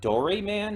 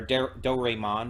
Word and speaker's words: Doraemon: it's Shin a animation it's the studio behind Dory man and crayon Shin Chan really are Doraemon by the way I am mispronounced that Doraemon and cran Shin-chan like that's